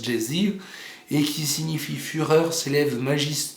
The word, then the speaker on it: geysir: Le geyser, mot que les Islandais prononcent geysir, et qui signifie fureur, s'élève majestueusement à son extrémité.